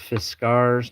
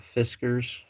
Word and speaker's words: Fiskars: I've got a nice little sewing kit from Fiskars. It's pronounced Fiskars, not Fiskers.